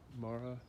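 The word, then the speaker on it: Marah: on the arborvitae here, is this coastal manroot, Mara oregana, M-A-R-A-H.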